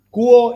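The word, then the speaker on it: 國: O sea, se escribe Guo, pero en pinyin, que es la forma en la cual se escribe occidentalmente los caracteres chinos y las pronunciaciones chinas, es Kuo.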